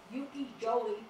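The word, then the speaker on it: ukiyo-e: These books were brought to Japan, where they influenced the development of Yukijoi prints. It's Y-K-I-Y-O-E. The Y is pronounced with a J.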